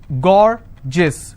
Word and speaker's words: gorgeous: i have a word gorgeous so gore gis two-syllable i will stress on gore s-i-o-n tension pension so